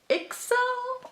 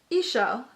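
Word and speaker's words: Ixchel: reason to purchase this, Ixel. I'm not really sure how to pronounce it, but there's that sweater. Gorgeous. Oh, Ishel. Ishel. Perfect. It tells you how to pronounce it right in there.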